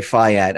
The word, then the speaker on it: fiat: You still, I say fiat. I know there are people that say it's fiat. Other places say it's fiat. I mean, people are correcting me all the time, but it's pronounced, I think it's really pronounced fiat. That's why I keep saying fiat, but that's a whole other story.